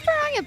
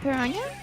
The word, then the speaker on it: piranha: It's because there's the NH, so that's how you pronounce like. Oh my god, I've been subconsciously putting Portuguese in my speech. Dude, I just thought that's how you pronounced it in general. No. I thought the NH Hi, Skelly. transferred. So I was like, oh, you know, NH with the ñ sound.